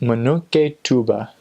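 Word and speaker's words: Munukutuba: of Congo brazo and it's pronounced Minogue a tuba I'm not entirely sure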